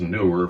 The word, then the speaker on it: Neewer: bought from before and it is pronounced newer from what I hear on other YouTube videos